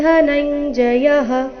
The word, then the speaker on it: ಧನಂಜಯ: ಇದೆ ವೃಷ್ಣಿನಾಂ ವಾಸುದೇವೋಸ್ಮಿ ಪಾಂಡವಾನಂದ ಧನಂಜಯಹ ಇಲ್ಲಿ ಧ ಧನಂಜಯ ದ ಬೇಡ ಧನಂಜಯ ಬೇಡ ಧ ಮಹಾಪ್ರಾಣ ರಸ್ವ ಬರಬೇಕು ಧನಂಜಯಹ ಮುನಿನಾಮಪ್ಯಹವ್ಯಾಸ ಮುನಿನ ಇಲ್ಲಿ ಮುನಿನಾಮಪ್ಯ